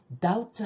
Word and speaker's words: doubt: 거예요 그래서 컨펌 확인하다 다트 할 때요 비 발음 하지 않아요 의심 자 이제 대화를